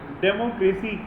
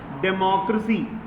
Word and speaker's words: democracy: एक वर्ड आप लोग गलत प्रोनाउंस कर रहे हैं बार बार, वो ये है डेमोक्रेसी। गलत है, डेमोक्रेसी। डेमो नहीं होता है, डेमो, डेमोक्रेसी। देखिए मैं आपको रूल बता दूं, डेमो के बाद हल्का सा अ आएगा, देन